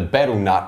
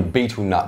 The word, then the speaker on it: betel: It's also known as ArcoFuel, and naturally it occurs, it's an extract of the betel nut or the betel nut, depending on how you want to pronounce it.